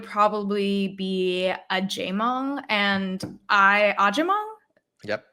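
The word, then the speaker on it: Agyemang: So my third would probably be a Jamong and Ajimong. Yep, Ajimong, yeah. That's how you That is pronounce the it.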